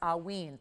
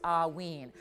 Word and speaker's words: Haüyne: It is pronounced haüyne. Think of it A-H-W-E-E-N. So haüyne.